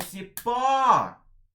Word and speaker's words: Cipó: Ô Cipó! A sílaba que a gente estende, né? O, o caneca, o peneira, saúva. A sílaba que a gente estende quando a gente chama é sempre a sílaba tônica.